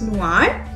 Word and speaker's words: noir: For example, noir, that means black. It has an E in the femina, but the pronunciation is same, that is noir.